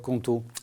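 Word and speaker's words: Qonto: Vous venez de passer un partenariat avec une néobanque en ligne, c'est comme ça qu'on dit, qui s'appelle Conto, je prononce bien ? Conto, c'est ça, tout à fait.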